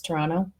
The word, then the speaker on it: Toronto: do you know that there's three ways to pronounce Toronto so if you're from Toronto its Tirana okay Tirana if you're from the United States and you don't know any better its Toronto Toronto and then well shoot